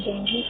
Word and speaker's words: dengue: हम जनरली बोलते हैं डेंगू, लेकिन इसे हमें डेंगू प्रोनाउंस करना चाहिए।